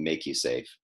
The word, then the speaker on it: MakuSafe: play on the words put a line over the a we pronounced it pronounce it and make you safe but the actual corporation